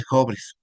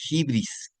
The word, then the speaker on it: hubris: Bueno, pero realmente, ¿qué es el síndrome de jobres? También se puede decir de hibris, ¿verdad? Otros ubris y unos lo pronuncien como hubris. Las tres son correctas de acuerdo a mis investigaciones.